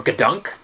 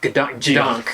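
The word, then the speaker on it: gedunk: Or Gadunk? Yeah, it's spelt Gadunk, but it's pronounced G-Dunk.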